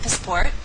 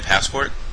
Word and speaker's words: passport: It will then be your turn to practice saying the correct pronunciation of the highlighted word. Let's try an example. Do you have a passport? Oh, do you mean a passport?